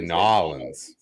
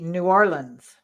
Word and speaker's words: New Orleans: know properly yes because you're supposed to probably say nollins probably i always just say new orleans yeah okay but but